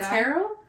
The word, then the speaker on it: tarot: get oh is it tarot it's not there's no tea at the end there there is but